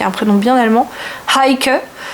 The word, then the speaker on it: Heike: un prénom bien allemand, Heike. Faut bien prononcer le H devant, H-E-I-K-E.